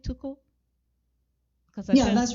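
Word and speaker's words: TUCO: with too cool am i saying it right toku because yeah that's right unified club soviets organization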